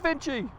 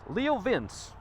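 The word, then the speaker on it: LeoVince: screen I was like it's Vinci it's Italian but that's how they pronounce it here in the South Leo Vince y'all and so I'll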